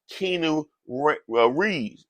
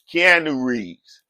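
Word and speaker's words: Keanu Reeves: and a Hollywood icon keeno Reed you know come on man everybody know who Kean re is I said the man name wrong I said the man name wrong at first Kean Rees you know he played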